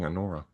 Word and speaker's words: Anora: but yeah, so she plays Alora and Alora, I'm gonna say her name wrong every time, Just, team. it's right on the fucking thing, Anora.